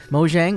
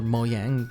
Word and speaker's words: Mojang: Mojang or Moyang, whichever way you pronounce it, revealed they were officially in talks with Warner Brothers to make a Minecraft movie.